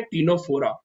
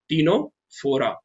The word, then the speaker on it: Ctenophora: दूसरा जो फाइलम है वो फाइलम है टीनोफोरा। दूसरा फाइलम कौन सा है, टीनोफोरा। इसमें भी सी साइलेंट है, हम सी को नहीं पढ़ेंगे, हम कहां से स्टार्ट करेंगे, टीनोफोरा से।